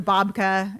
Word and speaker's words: babka: years, and then they're waiting waiting for the babka.